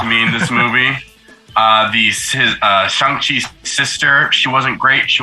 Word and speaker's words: Shang-Chi: Like sometimes, like, oh, that's Simu Liu, but then there were points like, he's Shang-Chi, or Shang-Chi as it's pronounced in the movie.